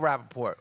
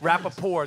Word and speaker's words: Rapaport: On social media, I'm all Michael Rapaport. Rapaport. There's a T at the end of my name. I'm not French. Sometimes people just rap a poor, they ignore the T.